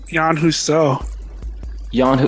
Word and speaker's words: yanhusuo: Yan Huso. Spell it, man.